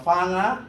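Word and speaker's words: whanga: joke lang so ah fanga may pang may sa wh ang pronounce niyan f please remember wh fanga okay tuloy natin Yan.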